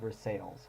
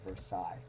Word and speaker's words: Versailles: of me, but we have a town called Versailles. It's spelled the same way. It's too bad, sorry we don't pronounce it well here, but correct pronunciation is the Palace of Versailles.